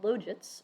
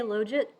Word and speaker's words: logit: logits or log ODS I say loit I've heard various other pronunciations uh my first graduate student from the University of Nebraska to actually finish used to say it's logit because you don't take the LGE you take the log he's not wrong uh in